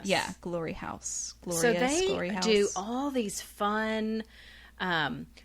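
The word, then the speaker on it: Glory Haus: marietta georgia i think you pronounce it glory house yeah it's spelled funny though it's not house like you would think house h-a-u-s yeah glory house do all these fun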